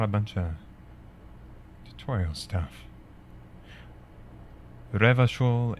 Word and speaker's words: Revachol: Revachol is pronounced Re-va-chol.